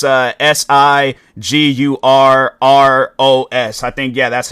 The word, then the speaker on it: Sigur Rós: But overall, though, the way that their name is pronounced, it's Sigurros.